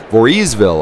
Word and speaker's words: Voorheesville: Voorheesville, I believe, is the proper pronunciation as these two exchange open 20s.